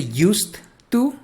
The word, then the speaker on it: used to: ¿Te acuerdas de used to? Acuérdate que esta se pronuncia con T. Es used. Used to.